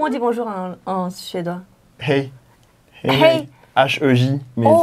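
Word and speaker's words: hej: Hey. Hey. H-E-J, mais oh, ça se prononce hey.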